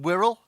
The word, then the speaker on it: Wirral: Wirral. Wirral. Excellent. Because lots of people say, how on earth do you pronounce this place? Because it's full of vowels and it's full of consonants, but Wirral it is.